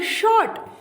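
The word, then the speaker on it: Schacht: page 2 इतना है ऐसी एच ए सी एच पी बट ई कि यह चीज साइलेंट है दो जगह पर यह आपको सीपियां आवाज नहीं निकल रही है इसको क्या पढ़ना है शो अट हेब्बल शॉट इकनॉमिस्ट इकोनॉमिस्ट का मतलब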